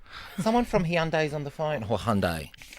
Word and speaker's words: Hyundai: Oh, It's pronounced Hyundai. It always is. It's drop the I, so it's not Hyundai. It's not Hyundai. It's Hyundai. Hyundai, why- like but there's why a do- Y on the end of it.